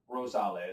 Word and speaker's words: Rosales: Rosales. Yeah. You said a lot of people say Rosales. Rosales. They separate RO and sales.